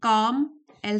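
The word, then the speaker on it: calm: Even 10 minutes with N inspiring book before bed कैन काम एल silent है।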